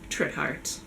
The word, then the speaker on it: Trithardt: quite that quickly, so trit like wit, heart like Hannah. Anything really. Schmidt schmart, quit quart, any version of those syllables smushed together, Trithard.